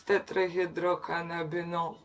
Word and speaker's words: tetrahydrocannabinol: that makes you high sorry I'm not saying it right it's tetrahydrocannabinol gosh so THC there are